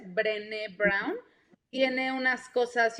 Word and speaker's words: Brené Brown: búsquenla, se escribe como René, pero con B de burro antes, Brené Brown.